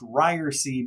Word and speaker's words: Ryerse: podcast but we ended up going with it's pronounced ryersy because uh i think that might be the